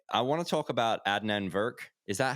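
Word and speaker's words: Adnan Virk: anyway um okay i want to talk about adnan verk is that how you pronounce his his name yes yeah okay uh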